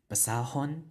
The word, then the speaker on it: basahon: Basa doesn't end in a glottal stop or a stressed vowel, so we use hon. Basahon, right? Because now we have the stress on the last syllable.